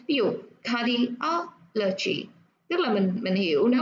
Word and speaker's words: cardiology: nó có o chi ở đây á, thì nó sẽ thường là nhấn vào cái âm trước đó. Ví dụ cardiology.